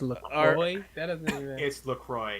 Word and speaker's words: LaCroix: look crew I loved so it's Lacroix yeah that doesn't even roll off the tongue right nope but that's how the people who made it said it's pronounced but you just pronounced